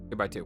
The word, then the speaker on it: 2x2: By the way, what's the official pronounce pronunciation for 2 by two? 2 by 2. We know that because that was in the trailer. In the trailer, it said 2x two.